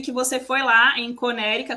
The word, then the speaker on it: Connecticut: É, Então assim, você acha que tipo eu vi que você foi lá em Conérica. Conérica, gente, é Connecticut, né? Que a gente fala, só que aqui pronuncia diferente.